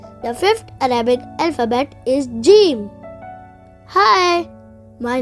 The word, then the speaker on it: Jeem: The fifth Arabic alphabet is Jeem. Hi, my name is Jeem. Jeem. Jeem. Jeem. You can spell Jeem in English as J-E-E-M. Jeem. It sounds like the English alphabet J.